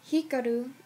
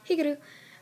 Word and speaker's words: Hikaru: It's when Hikaru, I remember his name because I like Kaoru better.